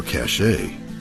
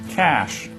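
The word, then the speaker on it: cache: can help me out here is this work pronounced cash or cash a cash appreciate it doc you see when jock Bailey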